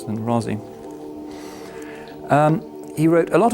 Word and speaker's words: Razi: two great towering figures one of them is razi held it for not to write his name up because it should be easy r-a-z-i razi in this part of the world he